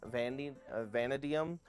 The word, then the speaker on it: vanadium: We need vanadium, sorry, I keep pronouncing it wrong. Vanadium.